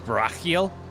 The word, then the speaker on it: Barachiel: Uh just so I know uh am I mispronouncing Barakiel? Is it Barachiel? Barach like the ch is like the h for middle eastern names like uh nah nahida from last stream. Oh, so it's Barackiel.